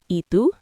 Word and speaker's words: ¿Y tú?: After you say your name, you can just add ¿Y tú? ¿Y tú? Close. The Y is pronounced like the letter E in English. ¿Y tú?